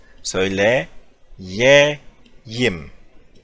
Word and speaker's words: söyleyeyim: Söyle, ye, yim. Söyleyeyim.